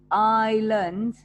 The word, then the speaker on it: island: weather is not good the island remember the s here is silent island small place with water